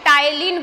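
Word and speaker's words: ptyalin: टाइलिन की हम बात करें, यहाँ पे कोई भी इसे टाइलिन नहीं बोलेगा, पी क्या होता है यहाँ पे, साइलेंट होता है, इसे टाइलिन बोला जाता है।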